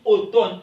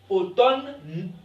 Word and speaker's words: automne: pas ok automne ok on dit automne m ici dans automne elle ne se prononce pas c'est vrai ok ce